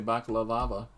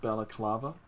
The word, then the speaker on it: balaclava: I've heard somebody say baklava. Love it. And instead of balaclava.